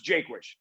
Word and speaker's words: Jaquish: It's Jaquish. It's like Jake hyphen wish is the right way to say it.